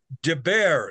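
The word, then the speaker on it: דבר: Davar means thing, and Deber, so it's pronounced, you pronounce the B, the bet.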